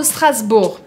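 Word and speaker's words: Strasbourg: de strasburg strasburg por que que eu falo strasburg é claro que a palavra vem do alemão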